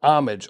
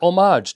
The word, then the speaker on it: homage: The word homage, or homage, depending on how you like to pronounce it, has taken on a